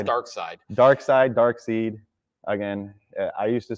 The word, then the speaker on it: Darkseid: I say Darkseid. I know it's Darkseid.